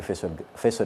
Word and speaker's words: Faisal: Donc c'est là-dedans que Faisal Maliki a grandi et nage encore. Alors, est-ce qu'on prononce le « i » de Faisali ou